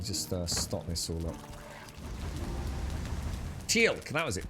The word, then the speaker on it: Teal'c: Teal'c, that was it. Teal'c, another bloody annoying pronunciation. Teal'c and Gould. Gould, Teal'c.